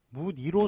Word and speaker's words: 무늬: 예, 그래서 예, 무니 이런 식으로 의를 갖다가 붙여서 비록 이로 소리 난다 하더라도 의를 갖다가 붙여서 발음을